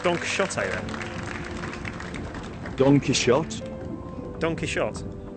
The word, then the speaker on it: Don Quixote: No, according to the foreword in the novel, the way that 17th century Spanish people pronounced the X was a sh sound, so it's shot.